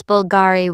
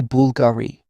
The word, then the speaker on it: Bulgari: Some pronounce Bulgari with stress on the gay. Italians say Bulgari.